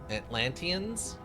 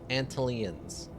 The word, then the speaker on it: Atlanteans: Atlanteanss what? Atlantis. Not Atlantis. Not Atlantis. Okay, I'm just pronouncing it wrong. Atlantis, not Antlannis. So it's Atlanteans, not Antalans.